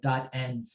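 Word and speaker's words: .env: on your dot n file dot n you it's dot e n v i will be pronouncing it that file is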